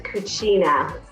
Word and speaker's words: Cucina: your restaurant how do you say it Diana's Kachina Italian okay it's actually also Latin it means